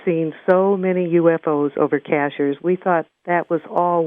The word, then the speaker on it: Cashiers: mountains and uh it's it's pronounced cashers but it's like a